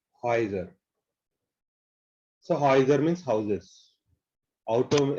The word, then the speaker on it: Häuser: Au is ow, but umlaut too again gives oi sound. Häuser. Häuser.